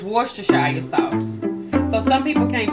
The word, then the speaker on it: Worcestershire: that i call it that uh but it's worcestershire sauce so some people can't pronounce that sauce so i call it what